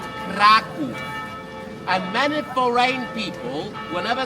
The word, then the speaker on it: Kraków: And in Polish pronunciation, Kraka is called Kraov.